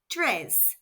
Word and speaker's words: tres: Do three is spelled t r e s and pronounced tre.